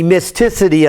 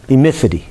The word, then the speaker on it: emissivity: The E is the emisticity of it. Emistivity of it. It's a number that is labeled from 0 to 1. Emissivity? What? Emissivity. Emissivity. Emissivity is what you say.